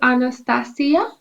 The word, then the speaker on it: Anastasia: full name is uh anastasia so okay very big name and austish can you pronounce it yeah so so in my language we say anastasia okay okay yes but in english it's anastasia okay yeah so the